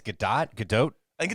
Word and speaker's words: Gadot: i i think it's gadot gadot i think it's good it's nakado no it's not it's good the t is pronounced apparently it's not it's not silent as you know has